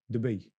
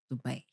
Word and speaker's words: Dubai: And how do you pronounce Dubai? Dubai. Dubai.